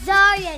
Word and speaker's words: Zaria: It's Zaria. Listen to me. I'm Croatian, okay? So how we pronounce Zaria, Zaria.